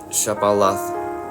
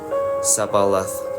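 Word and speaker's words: Shibboleth: If the man said, "No, I'm not," they would tell him to say Shabalath. If he was from Ephraim, he would say Sabalath, because people from Ephraim cannot pronounce the word correctly.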